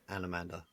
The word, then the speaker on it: Anomander: Anomander. Anomander, yeah. His full name's it's like Anomandaris, but Oh, humans can't possibly pronounce his name or something like that.